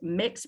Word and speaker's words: Mx: suffix of mx padilla which is pronounced mix padilla in my bio um